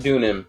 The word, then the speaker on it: Dunim: Dunim. Dunim, thank you. Frick my life. Because it's supposed to be like pseudonym.